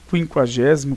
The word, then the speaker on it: quinquagésimo: Nós continuamos pronunciando linguiça e quinquagésimo consequente. Só que o trema foi retirado, né, da língua portuguesa.